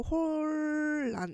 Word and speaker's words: 혼란: 혼란이라고 하는 거는 니은하고 리을이 만났을 때 니은하고 리을이 만났을 때 니은이 리을로 변하는 현상을 의미하는 네. 여기에서는 우리가 이런 거를 유음화라고 부르고요.이 결과로 홀란 이렇게 발음을 합니다.